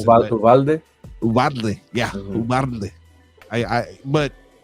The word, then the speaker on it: Uvalde: And going to Uvalde, and I never am able to pronounce it. Uvalde.